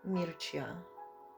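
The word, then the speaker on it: Mircea: mercey Aldiego z o.o z czyta się Mircia jest to rumuński religioznawca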